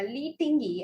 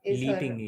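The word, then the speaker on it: Lei Tingjie: I'm not sure if my pronunciation is anywhere close there, Lee, but yeah, Lee Tingy, I think Li Tingi, yeah. is the way to pronounce her name.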